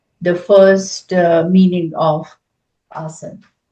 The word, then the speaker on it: asana: Uh this is uh this is called assan in Sanskrit and Hindi language but there's always an a in front in English so we call as otherwise it's called assan sometimes I may pronounce it that way as so please understand